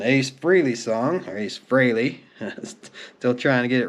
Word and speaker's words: Frey: pronounce his name and there's three different pronunciations that he's used to hearing but he even says on there that it's fry Frey fry all right so the